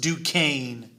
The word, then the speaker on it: Duquesne: up is called Fort Duquesne that word is pronounced Duquesne now Washington launched a surprise attack in order to overtake Fort Duquesne Washington retreated and quickly built Fort Necessity hoping